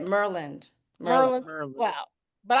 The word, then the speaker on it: Maryland: then you have to say it properly. You have to say it Merland.